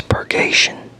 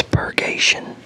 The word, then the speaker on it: purgation: It's purggation. Okay. Yeah, it's pergation. So, never seen the word before.